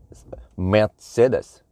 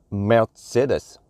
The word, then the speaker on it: Mercedes: let me see so it's not Mercedes it's not Merc but when I watch this YouTube two videos some Germans you're supposed to pronounce it m Mercedes yeah Mercedes you have a little it's not an R it's not it's you so Mercedes supposedly that's the the correct way to say it Mercedes or M